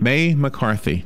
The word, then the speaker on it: May McCarthy: May McCarthy, just like the month of May and McCarthy.